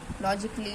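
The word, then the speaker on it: logically: हमारा silent letter है लॉजिकली लॉजिकली में भी हमारा ए जो है साइलेंट लेटर है ठीक है ऐसे ही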